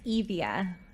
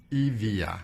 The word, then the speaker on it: Evia: We're talking about, I pronounced it incorrectly, right? It's Evia. Evia. There you go. Okay. You got it.